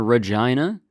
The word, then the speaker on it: Regina: Yeah, I'm doing a show in Regina. And I'm being serious, that is how you pronounce it if you've never heard of it.